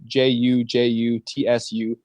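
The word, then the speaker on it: jujutsu: with an i it's actually jutsu Ju Ju TSU all three syllables sound the same with their vowel okay so that it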